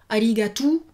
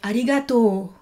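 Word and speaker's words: ありがとう: Donc ne dites pas arigato, mais arigato.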